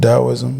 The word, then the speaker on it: Taoism: them is the tao taoism and in Asia they would be pronounced dowoism but um and